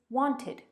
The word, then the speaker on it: wanted: here are some examples want has a t sound at the end and the past is wanted with an extra syllable it wanted our client